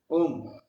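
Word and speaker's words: ॐ: Om. Om, there are three syllables there. O, U, Ma.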